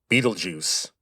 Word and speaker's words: Betelgeuse: By the way, that is how you say that name, Betelgeuse. Now, the spelling is German, but the name comes from Arabic, and under the first